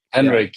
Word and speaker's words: Hendrik: Am I saying it right? Henrik. Henrik. Yeah, that was very good.